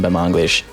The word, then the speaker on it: Batmanglij: I can never pronounce it properly. I studied before we talked. I can tell. Rostam Bamanglish.